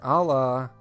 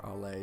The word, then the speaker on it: ala: this question ok the Ala of the sacrum allah means wing so here's our sacrum this area is considered the sacral a la or la depending on pronunciation and it articulates with